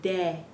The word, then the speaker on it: de: the daylight day but it's not day it's de de same thing with this word say say we're always pronouncing e like that so let's go over